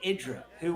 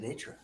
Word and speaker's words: IdrA: so what is it is it i draw or is it itra i think it's idra diggity is saying idra he he has said he's but that's so many times that is that's so funny because he his his name is pronounced he pronounces idra and artosis knows that